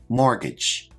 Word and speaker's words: mortgage: term is mortgage now this word has a silent T which I've highlighted in the word let's check our pronunciation mortgage a mortgage is like